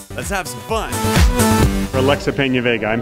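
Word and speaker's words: Peña: have some fun Alexa Pena I'm pronouncing that correctly right Pena that's what I said I know I know everybody thinks it's p all right so now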